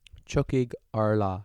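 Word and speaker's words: Tiocfaidh ár lá: Watch the third one called Chucky Allah. Is that how you say it? Chuckig Arla Yeah, that's what I said.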